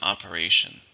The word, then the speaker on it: operation: How many syllables are in operation? 4, stress on the third, operation.